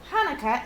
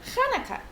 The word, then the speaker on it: Hanukkah: say it with me actually both hanukkah and hanukkah are right the holiday's name is hebrew so there are different ways to spell it and say it in english hanukkah or shanaka thanks applesauce says lucy's